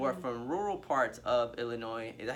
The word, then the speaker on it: Illinois: How do you kind of break this down to white students who are from rural parts of Illinois? Is that how you say it, Illinois?